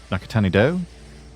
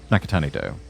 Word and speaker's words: Nakatanido: Nakatani dough. Nakatanido. That's how it's pronounced.